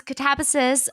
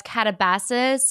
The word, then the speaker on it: Katabasis: Kuang, also known as Katabasis. If you were following us at the beginning of the year, that's how everyone was pronouncing it. And then someone was like, actually, in Greek or like ancient Latin, this is how you'd pronounce it.